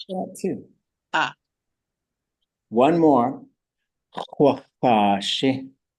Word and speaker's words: x̱ʼaduwóosʼ: ʼaduwóosʼ. It's a long, the first vowel is a long vowel.